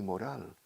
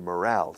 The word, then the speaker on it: morale: Yeah, so last Friday I lifted your morale. Se escribe morale. Por eso la acentuación va en la segunda sílaba. Porque moral, escrito como suena, moral, con L al final, en inglés es moral.